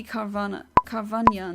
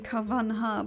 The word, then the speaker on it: Carvanha: I'm looking for a shiny Carvania now. Everyone keeps saying Carvanha, but the H in Spanish doesn't get pronounced like this. It's like in Piranha.